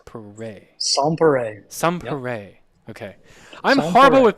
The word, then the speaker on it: Sans Pareil: going to say this it's Sans pay right it's not s perel it's pay sere sere okay I'm horrible